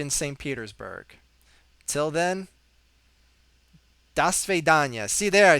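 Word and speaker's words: до свидания: petersburg till then da svidanya see there I said it right because we're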